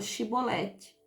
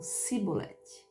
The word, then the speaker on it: chibolete: eles falar a palavra chibolete e eles não conseguiam pronunciar a palavra chibolete eles falavam sibolete eles não faziam não